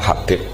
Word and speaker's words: Habib: Itu di harakatnya kitab itu ada yang nulis Hubab. Yang benar Oh, nggih. Yang benar itu bacanya Habib.